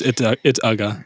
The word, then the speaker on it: Uga: I don't know how to pronounce Uga. It's just it's Ugga.